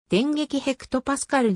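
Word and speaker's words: 電撃hPa: いる 2005 年発売タイトルは電撃 hpa と読む電撃ヘクトパスカルでの掲載順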